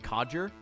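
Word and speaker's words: codger: for that coger head even though that's not it's pronounced coger the hell is a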